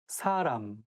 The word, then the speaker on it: 사람: 사람, person, but it should be a little bit softer S sound and say 사람. So it shouldn't be 사람.